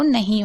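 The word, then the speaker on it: know: हिंदी में पढ़ के समझ लीजिए नो। यानी नौ में भी आप देख रहे हैं यहां पर के को नहीं पढ़ा जा रहा है।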